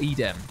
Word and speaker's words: Edem: pronunciation of your name it's edible edem like maybe it's like eden but with an m oh that would be